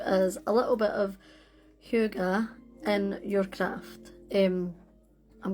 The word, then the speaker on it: hygge: So it's spelled H Y G G E and it's pronounced Hu or Hugu. Yeah. So yeah, Hugu.